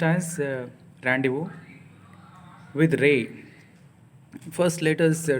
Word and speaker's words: rendezvous: d e z v us but it is pronounced as randu with Ray first let us try to understand